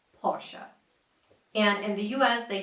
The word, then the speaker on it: Porsche: in Germany the country of its origin is pronounced as Porsche Porsche and in the US they say Porsche or Porsche it's incorrect but if you're saying it this